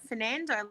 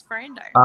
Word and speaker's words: Ferrando: Today I've got with me Ferrando. Is that the correct pronunciation? It is. You did well. I normally get Fernando, like the ABBA song, so you've nailed it. It's Ferrando.